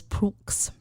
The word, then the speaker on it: Prioulx: Real, it's spelled real, and the last name is Prooks.